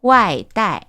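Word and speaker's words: 外带: 자, 포장은요, 외부로 들고 가다라고 해서 外带, 外带, 外带, 外带 이라고 읽어주시면 되고요.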